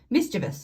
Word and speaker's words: mischievous: be backwards upset angry mischievous no mischievous i have said that wrong my whole life until i um did the spell check on this mischievous is the correct way to say that silly proud happy calm